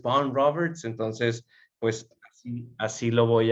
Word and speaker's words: Vaughan Roberts: pero gracias a Dios lo encontré en YouTube diciendo, mi nombre es Von Roberts, entonces, pues así lo voy a, así lo vamos a nombrar, Von Roberts.